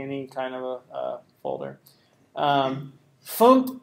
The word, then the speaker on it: fmt: FUMPT is how you say FMT, format, FUMPT. That's how Caleb was saying it, so I guess that's the way you say it.